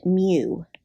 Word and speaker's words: mu: the population mean and the way that you pronounce that m i'll put it in quotations here it's pronounced mu now you might see